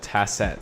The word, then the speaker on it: Tacet: haki the name of this murmur is called tassat spelled t-a-c-e-t and that translates literally from latin to is silent this is pretty much a musical term